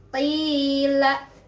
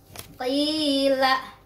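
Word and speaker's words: قِيلَ: Nah, yang mana madnya? Madnya adalah iya sukun ya. Kemudian sebelum iya sukun itu ada huruf berbaris kasrah. Jadi itu sudah memenuhi syarat mad tabi'i. Kita bacanya di ayun atau dua ketukan.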